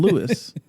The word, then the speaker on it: Dawn Lewis: showrunner mike mcmahon which i just learned you pronounce his name mcmahon and dawn lewis uh one of the actors who plays the